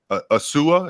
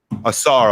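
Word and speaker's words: Ausar: Now, I understand that I keep getting his name wrong. Asua, is that how you say his name? Asar, I'm sorry.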